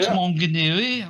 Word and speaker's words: Maunganui: God it's beautiful Island Mount mongui yeah at least you pronounced it right Mount mongui oh a see there